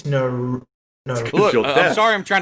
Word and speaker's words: Naruto: You say it as if it's spelled Narto. You say Naruto. You say Naruto. Yeah, Naruto. There's a U in there. Now I heard the U a little bit more, but it's Naruto.